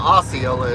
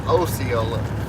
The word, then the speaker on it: Osceola: I got corrected the other day. It's not Osceola, it's Osceola, Arkansas.